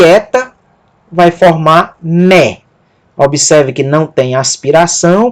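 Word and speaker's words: μή: Mi e eta vai formar mé.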